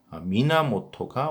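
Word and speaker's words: 源: 미나모토가 원시를 또 발음하는 방법이 미나모토, 그래서 원시 또는 미나모토라고 부르시면 되겠고요.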